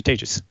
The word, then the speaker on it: Tejas: By the way, is your name pronounced Tejas or Tejas? It's actually Tejas, yeah.